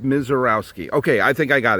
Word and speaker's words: Misiorowski: It's pronounced Miserowski.